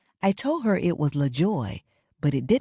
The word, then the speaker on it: LaJoy: I stated it incorrectly I used to think the correct way to say it was Joy however my grandmother would correct me and say your middle name is La Joy with Allah at the beginning so then I began